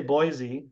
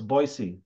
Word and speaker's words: Boise: right Terry is right it is actually pronounced with an S not a z so I mean most people say Boise but it's actually an S so it's boyy boyy yeah so um